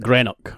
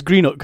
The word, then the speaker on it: Greenock: And a lot of people who don't come from Scotland call it Greenock, right? But it's Greenock. I want to make that clear.